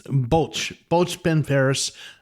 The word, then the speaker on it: Bwlch Barras: It's Bwlch Barras.